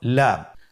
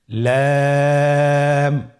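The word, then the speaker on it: لام: পরবর্তী হরফ লাম। লাম হরফটি উচ্চারণের ক্ষেত্রে অবশ্যই বারিক হবে এবং তিন আলিফ টেনে পড়তে হবে। আপনারা আমার সাথে বলুন। লাম লাম হরফটির মাখরাজ হলো জিহ্বার আগার কিনারা।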